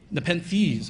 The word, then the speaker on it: Nepenthes: One's called Nepenthes, and I'm probably mispronouncing that because it's some Nepenthes.